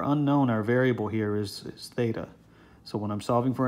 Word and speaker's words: theta: line right through the middle of it it's pronounced theta okay so I'm gonna call the angle theta